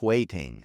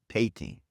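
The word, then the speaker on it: 화이팅: so forgive me, but Korean has no hard F sound, so fighting softens. The F becomes an H or more of a gentle P.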